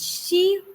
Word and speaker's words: she: I can Okay. understand that you have a problem while pronouncing sh and sir. Okay, you said C was disqualified. It's not C was disqualified, it's she was disqualified.